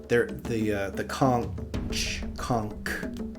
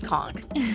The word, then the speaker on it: conch: there, Amix, that the conch. Does it matter where you're from? How do you say that word? No, it's conch. Conch. Okay. Well, it should be spelled K-O-N-K then, in my opinion.